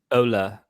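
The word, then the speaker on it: Ole: totally wrong interestingly um everyone pronounces his first name wrong don't they because everyone says olly yeah and it's actually ola whenever you watch the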